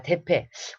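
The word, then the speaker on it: Deppe: 자, 대패. 우리나라 말로 하면 무슨 대패질 하나 할 때 이거 나무 가는 대패랑 저기 그 발음이 비슷하죠? 하지만 어쨌든 DPPE 대패.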